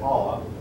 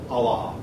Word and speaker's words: Allah: their God oh wow when I was a kid our teacher used to pronounced it all up but uh or even Allen but now they pronounce I believe the correct pronunciation is known to be Allah um they have a